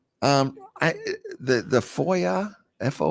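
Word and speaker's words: FOIA: interchange format oo o um I the the Foya fo o i a I've never is that how you pronounce it yeah Foya I've always just gone by the Freedom of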